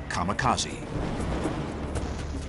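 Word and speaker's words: 神風: called it divine wind which in Japanese is pronounced kamakazi this would be the rallying Cry of Japanese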